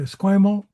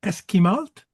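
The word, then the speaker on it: Esquimalt: So I came out to Squimalt to Eskimalt because I didn't know how to say it right.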